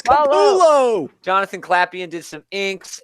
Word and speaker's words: Capullo: Capullo, bro. It's Capullo.